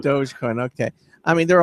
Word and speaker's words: Dogecoin: heard of things like I still don't know how to pronounce it it says Dogecoin or doggy coinin perfect yeah doge is the yeah doge is the correct term Dogecoin okay I mean there